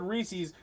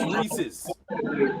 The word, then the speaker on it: Reese's: Okay, you said it right. Cheech said it wrong. He said Reese's. It's Reese's.